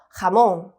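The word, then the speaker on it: jamón: 읽어 보겠습니다 가몽네 좋습니다 그래서 이때 가몽 할 때 그때 첫 번째 오는 글자가 호다 였구나 걸 알 수 있고요 여기에 강세 표시가 있는데요 얘는 발음에는 영향을 주지 않고 얘를 그냥 세게 읽을 읽으면 됩니다 그래서 하몽 이렇게요 자 우리 하몽 하게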